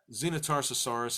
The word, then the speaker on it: Xenotarsosaurus: the little ones on carnot ours so this Xena Tarsus horas is somewhere in the middle so it was very important that we get the pronunciation correct for you guys Xena Tarsus horas